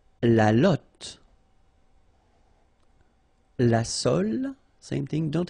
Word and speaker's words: lotte: And then la lotte, final E not pronounced, lotte, lotte. Okay?